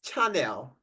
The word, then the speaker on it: Chanel: do you have Chanel it's called channel right or I don't get the pronunciation correctly H channel is it it's Chanel the ladies in the